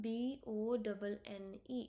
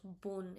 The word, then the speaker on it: bon: B O N E. It's like boon. Bon bon. You have to focus. Bon. Here. You don't have to pronounce boon. It is bone.